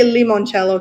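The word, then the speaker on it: limoncello: And when I went to Italy, I discovered that lemonello came from I say lemonchello because that's really how you say it.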